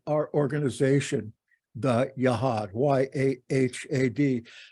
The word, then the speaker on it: Yahad: Maybe you've been thinking about why we have called our organization the Yahad, Y-A-H-A-D. Better pronounced Yahad, with a little bit of throat there in the H.